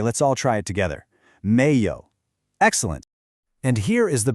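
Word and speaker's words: 没有: Your voice starts low and rises up, like you're saying, "Really?" Then, yǒu is our familiar third tone roller coaster. So, the whole word has this rising, then dipping and rising sound.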